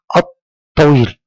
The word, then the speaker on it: الطويل: اما الحرف التي بعدها بعد اللام الشمسيه مباشره لابد ان يكون مشددا الط الطويل الطويل مشددا بمعنى انني اقف عليه في النطق واضغط عليه وكانني انطقه مرتين متصلتين ال ط الط الس فهذه